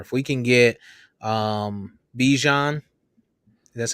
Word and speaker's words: Bijan: a little more if we can get um Bijan that's how that's how you say his name